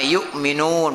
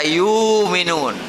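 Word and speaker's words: يؤمنون: ada yang baca ulama yukminun pakai Hamzah ada yang baca yuminun Ya kan ada yukqinun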